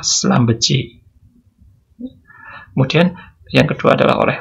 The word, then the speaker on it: Schlumberger: Ini cara bacanya juga bermacam-macam ya. Ada Schlumberger, ada Schlumberger, ada Schlumberger. Oke. Tapi dari bahasa Perancisnya dibaca Schlumberger.